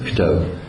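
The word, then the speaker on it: כתב: En araméen, c'est pas Katab, c'est en araméen on dit Ktav. On écrit toujours les 3 mêmes lettres, évidemment. On écrit les mêmes lettres, mais on prononce Ktav.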